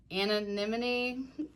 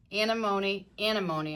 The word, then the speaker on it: anemone: Anemone, alimony, anemone, I think. It was like alimony or enemy, anemone. I do think that's right.